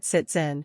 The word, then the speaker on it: sitzen: like an English s when the letter s appears in front of a vowel you need to pronounce the German consonant s like you would pronounce the English Z thus the S at the start of the word siten should be pronounced like an English Z the German Sound Z